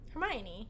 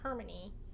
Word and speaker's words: Hermione: say the girl's name Hermione my mom calls her hermany I would say heran that's how I was readit it's definitely hermion it it there's a